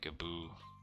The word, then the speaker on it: Gaboo: I'm also kind of surprised that Gaboo is pronounced Gaboo, but there's two O's. It has to be oo.